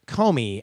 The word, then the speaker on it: Comey: and check it out at Comey at c om e UI rhymes with homie on twitter Neal writes